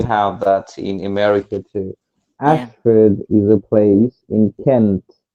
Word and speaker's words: Ashford: f-o-r-d-s oh ford okay ashford ash you speak like an american ashford that's how i'd say it but ash ford is how you spell it so the first one's phonetic and where is that ashford